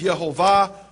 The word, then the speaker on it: Yehovah: Him by His name, which is Yehovah, or others pronounce Yahweh.